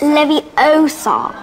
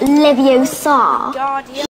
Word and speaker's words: Leviosa: way did you know you're saying it wrong it's Leviosa not livio sad now if you two